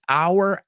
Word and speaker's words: our: The only thing, just be careful with the pronunciation of our. You said or. It sounded a little bit like or. So there are two ways you can pronounce our. The way you see it, piensa en esta frase. This is our hour.